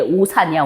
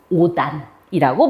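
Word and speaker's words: 옷 안: 실질 형태소가 올 때는 그럼 얘 오산이야, 오산? 오산 아니야. 그럼 얘는 어떻게 발음하냐? 일단 대표음인 디귿으로 바뀌어요. 그 다음에 안이야. 그 다음에 연음이 돼. 그럼 얘 발음은 뭐가 돼? 오단이라고 발음이 됩니다.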